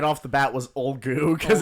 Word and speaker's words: Ulgu: The only one we got right off the bat was Olgu, because it's like Olgu. ULGU, and we were like, oh, Olgu.